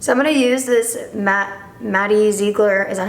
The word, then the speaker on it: Maddie Ziegler: So I'm gonna use this Maddie Ziegler, is that how you pronounce it?